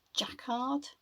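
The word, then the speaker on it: Jacquard: Now these are made by a company I think it's pronounced Jackard.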